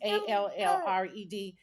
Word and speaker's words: Allred: I always say her name wrong. It's Allred.